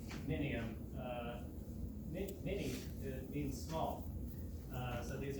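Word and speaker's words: Mnium: It's kind of like an I after the M there.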